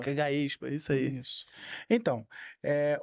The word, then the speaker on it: Gaexpa: Então, a primeira pergunta é: O que é o eh como é que se se pronuncia? Gaespa. Gaespa.